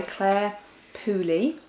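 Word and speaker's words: Clare Pooley: people called the people on platform 5 by Claire py that's how you say her name who I've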